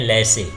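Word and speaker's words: laissez: जेड का देखते हैं, तो ये जा का साउंड देता है, जैसे ये जेब्रा हो गया, इसमें जे साइलेंट भी है, इसको पढ़ते हैं लैसे, ये लैसे है, जेड यहाँ पर क्या है, साइलेंट है।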